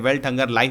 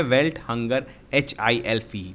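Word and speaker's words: Welthungerhilfe: ठीक है, HILF ही बोलते हैं इसको, बहुत लोग कंफ्यूज कर जाते हैं, वेल्ट हंगर लाइफ बोल देते हैं, लेकिन इसका नाम है वेल्ट हंगर HILF, जो भी जैसे भी आप प्रोनाउंस करें।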